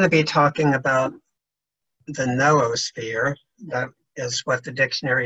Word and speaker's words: noosphere: right I'm going to be talking about the noosphere that is what the dictionary s is the proper pronunciation I tend to call it the neosphere but um whatever you would like and I